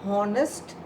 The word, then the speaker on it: honest: My mother is a honest woman. Is it right? My mother is a honest woman. It is wrong because again H is silent here.